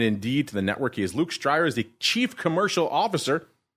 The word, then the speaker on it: Luuk Strijers: the program and indeed to the network is Luke stryer is the chief commercial officer over there at